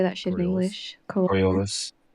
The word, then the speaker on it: Coriolis: Coriolis.